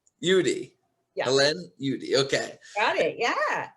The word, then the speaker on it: Udy: zoom right now with me helene is it pronounced judy judy yeah okay got it yeah awesome and she